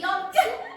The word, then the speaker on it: yolk: Y yolk. Yolk. Yolk. Yolk. Yolk. Don't pronounce the L.